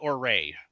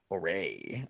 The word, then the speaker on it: Orre: I always pronounce it Orray. Orre.